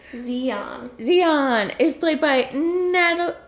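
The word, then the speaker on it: Xi'an: how to pronounce it x i dash i mean apostrophe a n zeon zeon is played by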